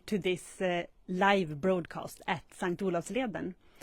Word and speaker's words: Selånger: this live broadcast at St Leen well that's how we pronounce it in Swedish sank olav's Leen you